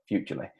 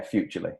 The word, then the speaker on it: Futrli: How do you pronounce Futrli? There you go, Futrli. It's think future and Lee.